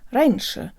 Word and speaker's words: раньше: i'm kyra and today you'll learn how to pronounce the word raineesha or earlier although this word is short it